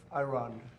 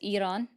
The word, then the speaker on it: Iran: He's still saying it wrong with the I, the emphasis on the I. Um but, cuz it's Iran, uh just saying that, right?